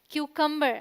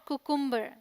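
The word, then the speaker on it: cucumber: Okay, this is क्यूकम्बर नॉट कुकुम्बर। ध्यान रखिए, pronunciation पर स्पेशल आपको ध्यान रखना है, ठीक है।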